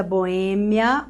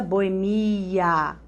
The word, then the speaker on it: boêmia: Olha essa aqui, você vai realizar uma autópsia ou autopsia, tá? Amnesia ou amnésia. Alopata ou o médico é um alópata. Mesma coisa, biopsia, biópsia. Olha a vida boêmia ou a vida boemia. Os dois estão corretos.